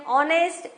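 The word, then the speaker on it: honest: half L silent है ऑनेस्ट H silent है daughter जी H silent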